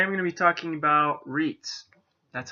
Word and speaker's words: REITs: gonna be talking about REITs that's how it's pronounced kind of similar to beats now you know how